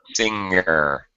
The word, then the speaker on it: singer: careful because it's like it sounded like you said Sinker and of course do